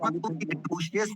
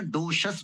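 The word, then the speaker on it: docious: काली फैजिस्टिक काली doses देखिए doses डोशियस नहीं बोलना है अभी बताया था ना डोशस बोलना है डोशस डोशियस नहीं गलत है वो डोशस डोशस दोबारा सुपरली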